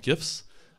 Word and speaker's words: GIF: for having me um I pronounce it with a hard G as GIF I feel like this